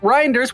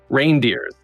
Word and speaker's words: Reinders: ask you I mean how did you really want to pronounce it when you read it reindeers yes I know right well that's great cuz then I have a whole holiday season um no reinder is reinders is Dutch and um I believe